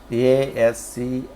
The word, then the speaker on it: ASCII: ASCII, pronounced ASCII, stands for the American Standard Code for Information Interchange.